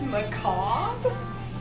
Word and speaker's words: macabre: I just realized that you don't pronounce the word macabre. It's macabre. What?